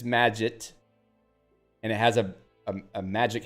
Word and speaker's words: Magit: It's pronounced like magic officially.